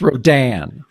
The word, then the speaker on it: Rodan: That's where the That's where the syllable goes, too. It's Rodan.